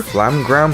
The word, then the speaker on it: FL∀MMe-G: Here's the starter, Flamgram Berklia. Yes, that's how you pronounce it, even though it says MMe-G.